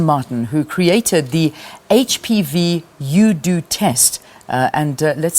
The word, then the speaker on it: UDoTest: who created the HPV UDoTest. And let's say a very good morning to her. Welcome to the program. Good morning. Thank you very much. I am saying it right. UDoTest. Yes, okay. UDoTest.